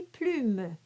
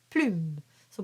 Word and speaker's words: plume: taken out it's actually plume plume so be sure not to say plumes and you do have